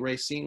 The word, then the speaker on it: Racine: You're from, I think, Racine, Wisconsin. Is that correct? Did I pronounce that correctly? Yeah, I'm right. We're from Racine, Wisconsin.